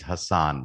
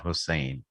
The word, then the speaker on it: Hassan: uh for everybody's correction my last name is hassan not hussein so it's pronounced as hassan just to clarify uh